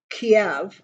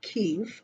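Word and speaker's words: Kyiv: think that at the point where putin gets kiev or k keefe depending on how you pronounce it but i think at that point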